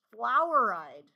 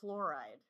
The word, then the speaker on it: fluoride: So, I'm going to take off a half a mark if you spell it o U because if you write it O U it becomes floweride instead of fluoride.